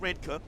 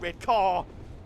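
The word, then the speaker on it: Redcar: and it is pronounced redka redka because the locals don't want you to be like red car it's a station called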